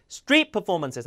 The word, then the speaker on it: street performances: 이 단어 발음 다시 street performances. 앞단어 강세 주고 합성어니까요.